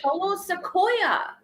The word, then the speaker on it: Solo Sikoa: You said it wrong. It's Solo Sequoia. Solo Sequoia. That's the right way. That's the Earl way.